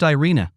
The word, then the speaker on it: Irene: Her name was Irene, pronounced Irina, and she seemed to get along with everyone in the office and everyone who came into the office except me.